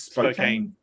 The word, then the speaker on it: Spokane: it Spokane River at Spokane how do you pronounce it Spokane is Spokane okay okay and so that that now makes